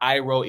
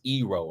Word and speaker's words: Iroh: It was not Iroh, it was Ero.